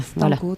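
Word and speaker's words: Stanko: Stanco, ils ont tous une page donc voilà on peut on va dire comment ça s'écrit. Stano. Oui c'est ce que j'allais dire. Stano.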